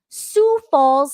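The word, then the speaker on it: Sioux Falls: Today's good news story comes from Sou Falls, South Dakota. And yes, I did look up how to pronounce sue because I was like, how do you pronounce this?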